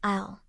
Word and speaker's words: isle: In very few exceptions, S is silent as in island, isle. For T.